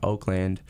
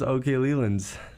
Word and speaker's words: Okleland: It's just okay in front of my name. Yeah. People mess it up a lot. People really do mess it up a lot. They think it's Oakland.